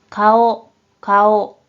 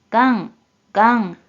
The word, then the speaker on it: 顔: 먼저 뜻으로는 顔、顔、 한편 음으로는 がん、がん、 이라고 각각 발음해줘요.